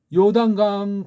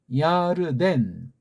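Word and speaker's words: ירדן: 우리 흔히 보통 교회에서 장례식 같은 거 할 때 요단강 건너가 만나리 그런 찬송들을 흔히들 많이 부르잖아요.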